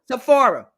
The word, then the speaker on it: Sephora: How do you pronounce it, Dana? That Sephora. Sephora.